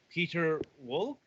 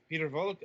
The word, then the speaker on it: Piotr Wolk: this week is uh peter wolck is that how that's pronounced uh okay i was wondering if that was the german or not okay peter volk of star first hi